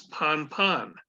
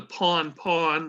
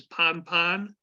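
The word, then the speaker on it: pan-pan: priority level is an urgency call which is pronounced as ponpon now I know your books says it's p-a-w-n pronounced Pawn I have only heard a couple of times in 50 years with the pawn pawn most of it is ponpon and it indicates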